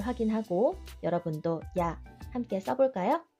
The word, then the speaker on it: や: 발음은 우리말의 야, 유, 요와 거의 같습니다. 발음을 할 때 입술을 너무 내밀지 않도록 주의해 주세요. 첫 번째 글자 야를 배워보겠습니다.